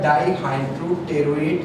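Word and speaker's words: dihydropteroate: क्या mode of action है इसका, सल्फासिटामाइड specifically binds to द डाइहाइड्रोटेरोएट synthase, ठीक है। ये DHPS, इसमें P साइलेंट होता है, तो DHPS जो है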